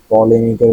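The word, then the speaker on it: polemic: আর পলেমিকের উচ্চারণটা কি ঠিক আছে?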